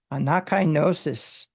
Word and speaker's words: anakainosis: Be transformed by the renewing of your mind, which is, I'm going to go ahead and let him pronounce that. Strong's G 342, nakinosis. Nakinosis. Anakainosis.